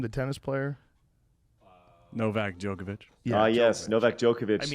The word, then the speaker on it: Djokovic: Novak Djokovic.